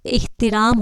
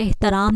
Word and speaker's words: احترام: لوگ فضا کہتے ہیں۔ احترام ہے، مطلب الف انچ زیر ہے، اور احترام ہوتا ہے، احترام نہیں ہوتا، احترام ہوتا ہے، ایک